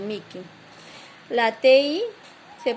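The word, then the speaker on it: mihi: La H no se pronuncia, es muda, con excepción de Niil, que es Niquil, y Mi, que es Miki.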